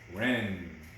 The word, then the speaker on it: wren: i scuffed my knee remember all these words have silent letters in them silent w's sign of k's and silent b's knee number seven is